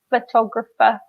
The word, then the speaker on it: photographer: designer we don't pronounce the G the G is silent and in photographer the pH is make an F sound in English so photographer okay so any kind maybe we can do